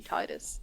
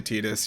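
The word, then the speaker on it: Tidus: know i don't know i think like the official pronunciation i think is tedious but like it looks like it should be titus and obviously it makes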